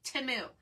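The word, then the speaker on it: Temu: the other day so I used to say Teemu like everyone else and then supposedly I didn't watch the Super Bowl but supposedly there was a teu timu commercial and they pronounced it timu so however you say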